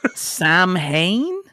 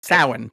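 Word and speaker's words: Samhain: entirely um Let me see if I can pronounce I have learned nothing from the Halloween franchise if we're being honest. Sam Hayne. Sam Hayne. Sam Hayne. Everybody's favorite villain. Samuel Hayne. Um Sin to be clear is how you pronounce that.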